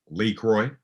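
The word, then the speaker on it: LaCroix: Well, there's a variety of ways to pronounce it. I prefer the Bayonics, as we say in the Bay. The Bayonics Nice. translation is Lee Croy.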